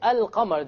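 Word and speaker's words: القمر: where is the lamb silent silent it's not pronounced right ashams however when i say al qamar the arabic word for moon can you hear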